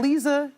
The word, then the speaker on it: Liza: And Lisa Jessie Peterson, Lisa spelled like Liza Minnelli, pronounced like Lisa Gibbons, the former talk show host.